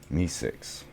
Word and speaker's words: MEE6: There's another bot I could look at getting to, is Me6. I think that's how it's pronounced, but it's MEE6. Another one. I think it's supposed to be like Me6 from Rick and Morty.